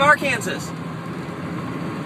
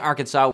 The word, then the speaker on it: Arkansas: All right, so we finally made it to Arkansas, or should I say Arkansas, because that's how it's spelled, and I think words should be pronounced how they're spelled, so when I have to spell them, I spell them correctly.